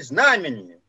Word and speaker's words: знамение: у меня словами знамение хотя правильно ударение в этом слове знамение и все кто его